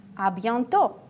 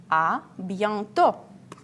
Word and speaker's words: à bientôt: If you want to say see you soon, à bientôt. À bientôt. As usual, I pay you attention. We don't pronounce T at the end.